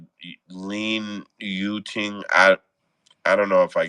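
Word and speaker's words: Lin Yu-ting: Lin Yuting. I don't know if I get the pronouncing exactly right, but I'm trying to just say how it's spelled.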